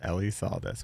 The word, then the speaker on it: Elisaldez: so where can people find so Ellie saldez on Instagram that's writer r yde r. Ellie saldez e l i s a l DZ Elie sales that's how it's pronounced Ellie sales we got that well I appreciate you